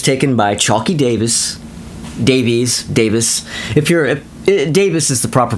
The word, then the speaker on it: Davies: Davis is the proper pronunciation, like Ray Davis, Dave Davis. But for some reason, Americans insist on saying Davies.